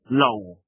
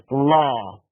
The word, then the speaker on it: law: Now there's another trick which comes in a number of words that we Polish mispronounce. Low meaning and law. Bravo. And here's the thing. We Polish very often say both these words the same low and it's not that it's law.